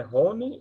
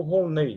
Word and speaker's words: Rolnei: de tirar uma dúvida a pronúncia correta do seu nome é Roney ou Roney e olha Rafael tanto faz viu me chama um dos dois jeitos Ah tá certo tá